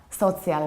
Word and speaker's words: social: what happens here firstly you don't pronounce the first syllable like soul but around it so